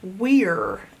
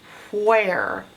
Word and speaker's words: where: It's pronounced where. So this is the odd part you have to learn by heart, is this E on the end. That's not doing anything. You can't hear it, and it's not being magical either.